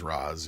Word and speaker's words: Ra's al Ghul: Putin's gets his Ra's al Ghul. Yeah. I think that's how you're supposed to pronounce it, is Raz. Yeah. Ra's al Ghul.